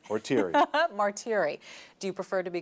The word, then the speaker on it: Martire: So tell us how to pronounce your name. Martire. Martire. Rhymes with cheery or weary. Or weary. Or teary. Or teary. Martire.